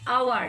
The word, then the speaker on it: hour: That means H is silent here. Silent is silent. I'm writing again. Silent is. যখন H এর silent থাকে বোঝা যায় না, hour.